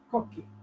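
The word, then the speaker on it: Cocchi: It's called Americano Cocky, or Cocky Americano. It's a hard C.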